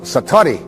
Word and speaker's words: satori: And he had what is called in Japanese it's called, excuse my Japanese, but it's called satori.